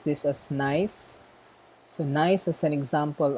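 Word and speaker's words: gneiss: a sedimentary rock okay next nice so we pronounce this as nice so nice as an example of a metamorphic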